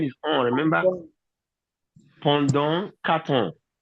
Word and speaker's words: ans: Pendant 4 ans. 4 ans. That S is silent.